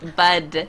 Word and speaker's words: bud: No, no, not but. Bud. Bud.